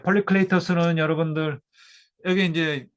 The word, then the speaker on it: 폴리클레이토스: 그리스 옛날 그 발음으로는 이런 식으로 됩니다. 폴리클레이토스.